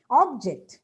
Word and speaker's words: object: noun or adjective but stress on the second syllable when it is used as a verb it's not that easy